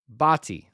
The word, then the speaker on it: Botti: Botti. Let me say it again, Botti. I believe I am finally getting that right. I pronounced it Batty. I pronounced it Bate, Bata. Botti is how it's pronounced.